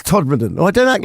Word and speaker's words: Todmorden: How do you know the correct pronunciation? Because I've been round there. Todmorden. It's Todmorden.